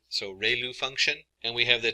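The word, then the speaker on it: ReLU: have the um Ru it's pronounced like Ray the ray from the Sun and L like a name so Rayo function and we have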